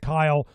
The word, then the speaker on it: Cyle: or you could put my name, which is Kyle. Kyle is spelled with a C.